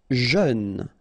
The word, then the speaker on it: jeune: Jeune, final E not pronounced, but then EU together, jeune, jeune.